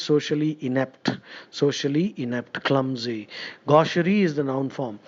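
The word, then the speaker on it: gaucherie: gosh also means socially inept socially inept clumsy Gosher is the noun form G a u c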